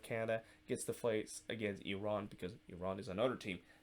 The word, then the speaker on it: Iran: because of the, well, not Iran, but Iran. I always, when I see the word Iran, I always want to say that, but it's actually, the correct pronunciation is Iran.